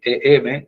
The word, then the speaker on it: em: Se llama así, em, eh, ven que se se escribe tal cual.